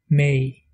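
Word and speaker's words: mé: Le E long se prononce comme le A anglais de say. Par exemple, pour dire je, en irlandais, on dit may.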